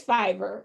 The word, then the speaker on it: Fiverr: though because the lady that i used on fiverr am i pronouncing that right is it fiber yes it is fiber okay so i specifically wanted a woman because